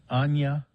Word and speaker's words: Anya: say the same thing anna taylor joy and director george oh anya yeah you're right there there's the y anya